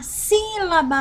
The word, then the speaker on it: sílaba: ser voluntário ou não, nós falamos si. Ó, deixa eu sublinhar aqui. O si nós falamos mais forte. Ele já é acentuado, né? Tônica. Independente do acento, se ele é circunflexo ou se ele é acento agudo, a sílaba mais forte é aquela acentuada. Então, sílaba. Ó, nós ficamos mais tempo falando sílaba.